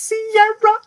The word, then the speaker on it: Sierra: I know it's not her, but I have to say it's Sierra. Because it rhymes with Kiera.